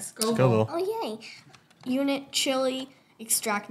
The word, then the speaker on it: Scoville: You said it right, Scoville.